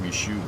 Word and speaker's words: Michoud: It's pronounced Michoud, by the way. Yeah, but that means we have to lend credence to French, Elmo, and I don't do that.